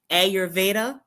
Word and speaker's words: Ayurveda: Agnyotra is a healing fire from the ancient science of and make sure I'm pronouncing this right. Ayurveda Ayurveda.